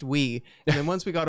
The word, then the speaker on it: Wii: in every day to ask do you have the Y console it's pronounced we and then once we